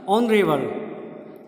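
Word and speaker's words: honourable: Next word है जैसे ऑनरेबल, देखिए एच यहाँ पे साइलेंट है, लेकिन फिर भी आपकी जो साउंड आ रही है वो किस चीज़ से आ रही है, ओ से आ रही है। ऑनरेबल, ओ हिंदी का उच्चारण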